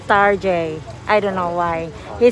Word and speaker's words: Target: Our next stop is on this place called Target, but my husband pronounced it as Tarjay.